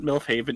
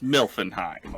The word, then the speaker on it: Milfenheim: thing how dare you it's not milf haven it's milfenheim okay i'm not like